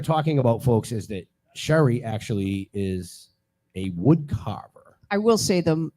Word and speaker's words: Cherie: about folks is that Sherry actually is a wood carver I will say them the right pronunciation of my name is Cherie because I messed that